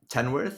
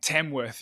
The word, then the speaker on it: Tamworth: How far is Melbourne from Tenworth? Is that how you say it? Tam Tamworth. Yeah.